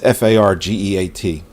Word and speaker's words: Fargeat: You know, so the director, I can't even pronounce her name, Coralie Fargeat. It's Fargeat.